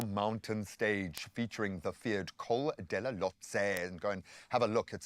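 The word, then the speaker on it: Col de la Loze: So today brings a brutal mountain stage featuring the feared Col della Lotse. And go and have a look. It's spelt D-E-L-A Lotse with a Z-E, and see how many scalps this one has claimed.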